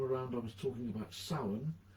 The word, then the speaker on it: Samhain: Last time around I was talking about Samhain, spelt Samhain but not pronounced that way, and talking about Celtic